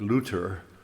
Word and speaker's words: Luther: that's my family name, Luther, which in German is pronounced more like Luther, which is like Looter, the lute builder that luthier is based upon.